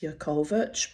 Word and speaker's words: Jakovac: the beautiful, amazing Margaret Jakovac. I think in her home country it was originally pronounced Yakovich, but it got anglicised, you know how it is when you're a migrant, you come to Australia, mate.